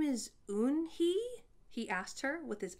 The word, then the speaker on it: Unhei: turning around it was joey your name is un hee he asked her with his eyes open wide yuen hey quickly looked at mr kim then turned to joey she nodded slowly yes it's pronounced and it means grace mr kim added